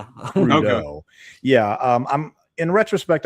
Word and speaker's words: Crudup: And forgive me, but uh Billy Crudeau, that's how you pronounce his last name. I know. I I used to pronounce it crudup. And no, it's not. Yeah. Yeah. Crudeau.